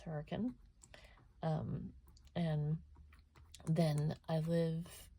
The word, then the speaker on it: Hurricane: town called Hur um it's spelled like hurricane but it's hurricane um and then I